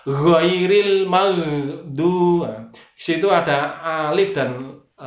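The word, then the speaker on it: غير: uh chairil mag sama tidak boleh dibaca unggul gill enggau ril salah karena bukan emg enggak chairil salah yang benar adalah khoiril malu2 situ ada alif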